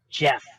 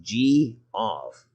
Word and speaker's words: Geoff: it's pronounced Jeff. Jeff. No, I've got it here. It's Geoff. That's G off. Yeah, I don't care how it's spelled. I know what my parents named me, and it's Jeff.